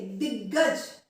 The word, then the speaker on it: दिग्गज: में आ रहे हैं, मतलब जिसमें हम ग का उच्चारण थोड़ा सा बढ़ा रहे हैं, आधा ग और पूरा ग एक साथ आएगा, उसको देखते हैं वो शब्द किस प्रकार से लिखेंगे हम।